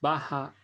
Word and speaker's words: baja: Ella es baja y delgada. Couple of things before we continue. Notice how I pronounce the J in the word baja.